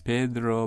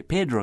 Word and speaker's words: Pedro: might have heard say Pedro Castle pronouncing Pedro in the authentic Spanish way are traditional Caymanians of